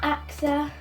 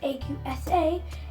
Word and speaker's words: Aqsa: It's not Aqsa, even though it says A-Q-S-A. It's Aqsa, pronunciation. You don't say pone, you say phone. So it's Aqsa.